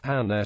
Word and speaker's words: Anna: Notice the doubled letters represent separate occurrences of the sound in question. For example, Anna is pronounced Anna in Polish.